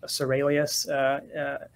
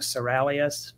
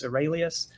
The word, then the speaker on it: Seralius: And for viewers, the last name is pronounced Seralius. Every now and then people think Seralius, but it's Seralius.